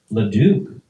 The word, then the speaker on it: Leduc: how do you pronounce the last? What? Leduc.